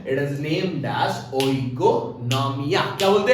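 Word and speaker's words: οἰκονομία: इट is named as ओइकोनॉमिया. क्या बोलते हैं? ओइकोनॉमिया. ये एट उसका प्रोनाउंसिएशन इकोनॉमिया है, बट इकोनॉमिया बोलो तो बच्चे ईसीओ लिख देते हैं. ओ बोलेंगे तो याद रहेगा, है कि नहीं?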